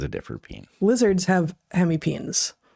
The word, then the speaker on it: hemipenes: And I every time I talk about hemipenes, someone is like, it's peenies. I'm like, you know what? Freaking herpetologist. I'm not saying that all of us aren't pronouncing it wrong, but in herpetology, where we study these things, we call them hemipenes.